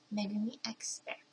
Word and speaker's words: megumixbear: name so now you guys know how to pronounce it correctly it's megumi xer yay very much appreciate it just happy by